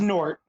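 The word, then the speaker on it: G'nort: you pronounce them now this is nort you don't say the g yeah I was wondering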